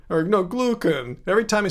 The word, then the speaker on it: glucan: Glycan. Or, no, glucan.